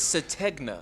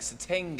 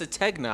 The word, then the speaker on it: Sategna: It's Sategna. Sategna, my bad. Everybody says everybody started to say like Satenga or Sategna. it's Sategna.